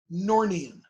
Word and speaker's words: gnornian: That's how you pronounce that other one. Gnornian, right?